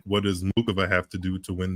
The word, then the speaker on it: Muchova: She says Muchova. Like, she doesn't pronounce the C at all. I think there's a lane in the world where that's how you say it. I'm not sure. I've heard Muchova, Muchova. I think it's somewhere in the middle.